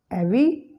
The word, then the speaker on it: every: Every. No. The schwa sound after V is deleted and you will pronounce it as every.